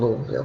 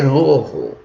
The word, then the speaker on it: Louisville: I used to live in Louisville, Kentucky myself. I've lived many places statewide because of the work that my dad did, who was a fighter, again, for civil rights. And we lived in Louisville, Kentucky.